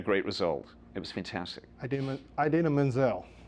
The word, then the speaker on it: Idina Menzel: Idina Menzel. I say I didn't do the John Travolta there. I actually pronounced it correctly.